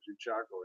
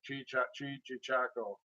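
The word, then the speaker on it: cheechako: But I don't know, the ballads of Chichaco again. That's how they say it up north. Chichaco.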